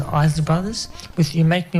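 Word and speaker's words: Isley: was just e Brothers say say pronounce that as isy brothers with you make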